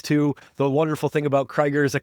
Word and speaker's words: Crigger: And the most wonderful thing about Crigger's is she's the only one. Crigger, welcome to the show. That's not how you say my name. Oh my God. It is Crigger. Like Kigger, Crigger.